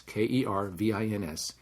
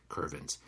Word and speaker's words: Kervins: not it's kervins is pronounced like it reads ke r VI ns kervins kervins and I have